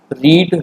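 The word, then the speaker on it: read: Become, became, become, कम, केम, कम, रीड, रेड, रेड। Pronunciation अलग होती है रीड की सेकंड फॉर्म की, बट स्पेलिंग सेम होता है।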